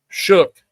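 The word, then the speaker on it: Shough: Um, how do you say it? O or something. Shook. Shook. It's actually shook.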